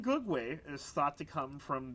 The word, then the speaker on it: Gugwe: I had to actually also learn how to pronounce this so the name go way is thought to come from the quti uh